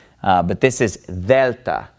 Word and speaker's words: Delta: letter is Vetta and it is basically pronounced like the th in the word the okay if you speak Spanish you're probably used to pronouncing the DS in this way but this is Delta Delta so alpha vita